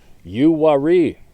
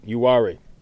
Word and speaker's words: Uwharrie: There is the Uwharrie National Forest, pronounced Uwharrie, all right, Uwharrie.